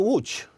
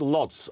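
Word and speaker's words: Łódź: the 1905 polish ooh you mean watch watch English is sometime called Lots well you because people can't work at the L is pronounced more like a double unit boat is about yes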